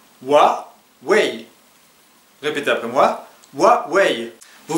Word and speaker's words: Huawei: en fait ce mot se prononce avec deux syllables wa way répétez après moi wa vous voyez il y